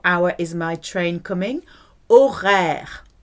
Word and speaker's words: horaire: Horaire. O, H is silent. Horaire, it's mute.